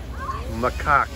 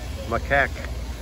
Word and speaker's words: macaque: here we go the japanese makkaku it's pronounced macaque macaque oh boy let's butcher